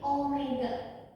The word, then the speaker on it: omega: Oke, ini dibacanya bukan W ya, tapi omega.